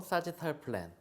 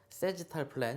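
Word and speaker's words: sagittal plane: 영어로 사지탈 플랜. 시험 볼 때 옆에 영어로 이렇게 사지탈 플랜 이런 표현이 되어 있으니까 여러분들이 그대로 외우시면 됩니다. 사지탈 플랜, 세지탈 플랜 이렇게 발음을 하기도 하는데 뉘앙스 들으시면 아실 거고 시험 볼 땐 당연히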